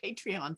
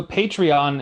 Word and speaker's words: Patreon: about patreon sure so patreon as you can sort of tell the word sounds like the word Patron and it's a platform